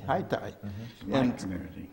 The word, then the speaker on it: Haiti: High Thai which was the original name pronunciation of Haiti haitai yeah in Durham North